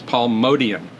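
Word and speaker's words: Motian: a uh a Bill Evans video where he pronounces Paul mion's name as Paul modian so I will take those as the uh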